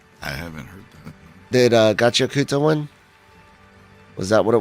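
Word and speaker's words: Gachiakuta: was trying to say Gacha Kata, because I was trying to not pronounce the U very well, and they told me to pronounce the U. They're like, no, we're going with Gacha Kuta, and because Japanese has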